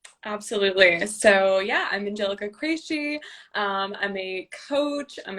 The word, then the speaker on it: Cresci: right yeah it's um i pronounced that crazy okay okay good i